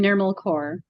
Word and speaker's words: Nirmal Kaur: Can you please pronounce it for me? Certainly, I'm Nirmal Kaur.